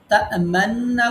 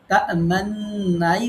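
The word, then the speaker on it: تَأْمَنَّا: উচ্চারণ করা যাবে না, মানে তা মান্নু বলা যাবে না, তা মান্নাই বলতে হবে, বাট ঠোঁটটা একটু গোল করতে হবে।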